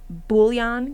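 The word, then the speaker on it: bouillon: Uh, whoever wrote this, check out it's pronounced bullion cubes.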